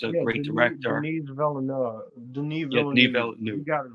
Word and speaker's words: Denis Villeneuve: Denis Villeneuve, I think that's how you pronounce the director's name. He's a great director. Denis Villeneuve. Denis Villeneuve.